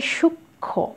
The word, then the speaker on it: সূক্ষ্ম: প্রথমে রয়েছে সূক্ষ্ম, এটা সূক্ষ্ম, যুক্ত ব্যঞ্জন আছে তার সাথে বসেছে মটা, সে কারণে উচ্চারণ কিন্তু সূক্ষ্ম, ময়ের উচ্চারণ নেই কিন্তু নাসিক্য হয়েছে।